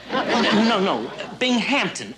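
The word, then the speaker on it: Binghamton: Bingmpington? Bingon? No. No, no. Bing Hampton. Accent on the ham.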